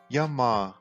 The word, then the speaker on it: Yamaha: Uma marca conhecida por aqui pelos tratores e maquinários pesados é a Yamaha, que a pronúncia em japonês é Yamaha, prolongando o final.